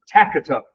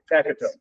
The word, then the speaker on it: Taikratoke: Takatup. Okay, Takatup.